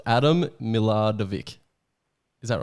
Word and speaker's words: Milardovic: and uh they just wanted to see me pronounce your last name so it's adam miladavik is that right hey there we go you